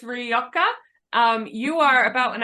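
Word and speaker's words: Rioja: that red wine R is that pronounced rioka it's rioka um you are about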